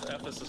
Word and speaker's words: Ephesus: And then the Ephesus we just saw was between those 2 valleys there.